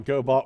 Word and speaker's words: Gobot: I'm that's the title Gobot with a hard G there's nothing you're gonna